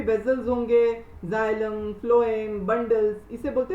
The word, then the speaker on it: phloem: सो PH है ना, तो इट is kind of F in pronunciation.